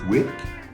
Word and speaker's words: twerk: Le twerk, prononcé twerk, en anglais twerking, est une danse sensuelle.